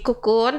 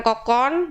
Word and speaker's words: Kokoon: bareng sama temen-temen dari kukun ternyata bacanya tuku kuno Eko gunung bukan kokon bukan kalkun bingung kan kamu pasti juga baru tahu kalau bacanya kukun Ya kan hahaha ya udah